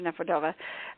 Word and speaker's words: Nefedova: correct me and um Dr vogle and Dr neova so welcome to the program to both of